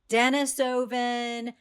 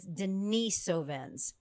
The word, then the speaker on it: Denisovans: This word Denisovven, how do you pronounce it? You will hear Denise, Dennisovven.